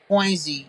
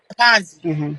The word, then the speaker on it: Ponzi: right so listen so somebody comment said that poiny is that how you say it poiny scheme so it says pzi Ponzi Ponzi scheme victims simply invest while sches involve